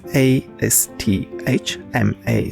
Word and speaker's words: asthma: do you have Asma so this is a s t h m a so we're going to pronounce asthma all right asthma do